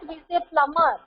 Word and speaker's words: plumber: The B is silent. We say plumber.